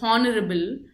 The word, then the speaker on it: honorable: For example, if you take the word honorable it is pronounced as honorable and you will say honorable.